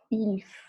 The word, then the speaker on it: ils: Então, nous faisons, vous faites et ils font. Ils font, elles font. Lembra que daí a gente não fala o S, né? Porque não começa com vogal. Então, ils font e elles font.